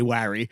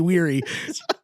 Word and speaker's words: weary: cannot pronounce that correctly every time I'm going to say wry like it's Larry when it should be weary of the best is